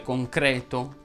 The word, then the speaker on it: concreto: Fanno eccezione le parole concreto, ceto, feto, veto, cateto, secreto, che è la coniugazione di secernere, lieto, divieto, veto, prete, siete, in cui la E va pronunciata aperta.